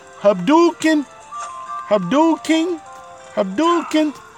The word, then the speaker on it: Hadouken: you like it cuz it's supposed to be pronounced Hadouken Abdul King Abdul can't like Ryu's fireball cuz